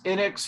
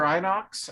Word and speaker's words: Inox: the list does anybody does anybody use innex or inox on their braids ray does ray said that he uses einox yeah yeah and gary's gary said you knocks that's how you pronounce that i use that stuff